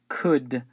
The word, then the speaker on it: could: the pronunciation is Right could so the L letter L is not pronounced all right uh we